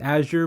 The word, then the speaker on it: Azure: But moving over to their cloud platform called Microsoft Azure, which I think it's actually pronounced Azure, but I prefer saying Azure just because it sounds a little bit better, but they've been seeing tremendous progress in gaining market share there.